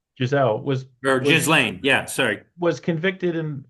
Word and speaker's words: Ghislaine: Ghislaine, is that how you pronounce her name? Maxwell. Um, Giselle Giselle or was Ghislaine.